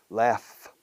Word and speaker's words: laugh: Laugh. Se escribe lauch, GH al final. Se pronuncia laugh como F pura.